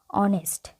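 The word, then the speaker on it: honest: এম কিন্তু এ first আসছে উচ্চারণে, তো সেই ক্ষেত্রে অ্যান হবে। অনেস্ট ম্যানও অনেস্ট, অনেস্ট অ আসছে, তো সেক্ষেত্রে অ্যান হবে।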